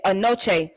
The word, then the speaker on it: Anokye: we all know okay it's pronounced a noche all right sorry thank